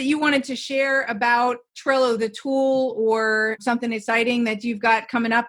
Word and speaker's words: Trello: The only thing I'll say is what I really like about Trello is it rhymes with jello and I love jello.